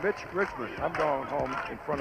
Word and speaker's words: Mitch Richmond: his tournament including us he's been called rich Richmond Milt Richmond and it's Mitch Richmond I'm going home in